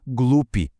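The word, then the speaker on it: глупый: bobo ou tolo é glup. G L U P I. De novo, terminação padrão, porque a força da pronúncia tá no começo da palavra.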